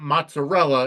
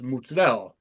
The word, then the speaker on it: mozzarella: It's not mozzarella, it's mozzarella.